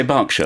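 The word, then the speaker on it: Berkshire: Now you say Bergkshire. I say Barkshire.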